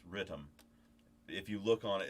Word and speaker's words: Rytm: electron rhythm so and that's how it's pronounced it's rhythm if you look on